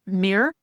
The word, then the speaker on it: Meir: And today I'm very happy to have and I'm going to get pronounced this wrong. Is it Mayor Mayor Mayor?